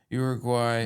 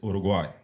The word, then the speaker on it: Uruguay: Richard Ortiz is coming from Uruguay. No, no, it's Uruguay.